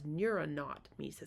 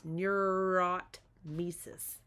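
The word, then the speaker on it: neurotmesis: Um, and then the the last one, the most severe one is a neurotis, which I often mispronounce as neuronaut meis, but it's neurotis.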